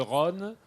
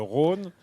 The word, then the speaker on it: Rhône: On dirait le Rhône, oui. Alors qu'à Lyon, on va dire le Rhône, le fleuve.